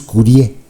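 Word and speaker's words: curiae: también para entenderlo amicus Curie es en latín no se pronuncia la a Entonces es Curie Qué es esto bueno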